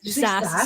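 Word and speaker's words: SaaS: s AAS how do you say that Grace SAS software as a service yeah SAS I knew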